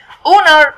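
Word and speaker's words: honour: owner معناها شرف او يشرف او يتشرف، تنفع اسم وفيرب برضو، ما بنطقش الاتش.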